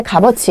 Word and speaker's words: 값어치: 서치 근데 그게 아니에요 얘는 뭐라고 바로 하셔야 돼요 값어지 그래서 이게 조금 부딪히는 부분 부분이 있긴 한데 현재 표준 발음 법이 뭐 개정이 된 상황이 아니고 요런 사례가 들어가 있으니까 얘는 좀 따로 특이하게 값어치 해서 기억해 주시기 바랍니다 그다음에 갑 있는 예